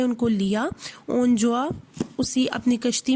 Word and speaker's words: Gjoa: जिसका नाम क्या था, जोआ। ये GJOA, तो जी जो है वो साइलेंट है, तो हम इसको प्रोनाउंस करेंगे जोआ। तो उसकी जो शिप थी उसका क्या नाम था, जोआ।